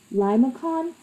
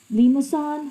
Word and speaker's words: limaçon: That's one of the pronunciations. I've also heard this being called as Limaçon. So either Limocon or Limaçon, whichever one you prefer. I think I'm going to go with Limocon because that seemed to be a more popular pronunciation.